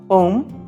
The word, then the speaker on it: Om: This is how Om is pronounced. You start with a lower frequency A, and with increasing amplitude you go on to utter U, which has higher frequency than A. And lastly you utter Ma, which has the highest